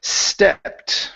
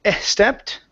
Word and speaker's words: stepped: Let's go to the word stepped right here. So, instead of saying estepped, take off the e sound. The word is stepped.